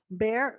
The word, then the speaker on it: Bexar: Well, where I live is Bear. Well, it's spelled Bexar. So how would you say that? No, Baxer. Bexar. Bexar. But people pronounce it bear.